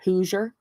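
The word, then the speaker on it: Hoosier: who's your daddy but it's spelled h o o s i e r whoer who your daddy I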